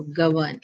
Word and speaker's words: govern: verb by the way and uh the stress is on the second syllable in dicelabic verb. So govern this is how it is.